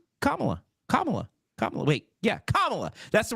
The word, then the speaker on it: Kamala: it's not kamla it's comma no it's not it's Kamala you're saying it wrong you're saying it the racist way so instead of being belligerent about it and saying I'm saying Kamala I go okay sign